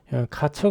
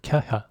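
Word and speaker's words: Kärcher: 이걸 카처 아고 하는데 카처 아니죠 발음은네 케아 케어하자 케샤네 좀 독일식 바람으로 좀 그렇습니다 이거 사 가지고 이제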